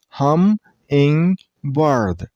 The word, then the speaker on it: hummingbird: So this name is two syllables. Hummingbird.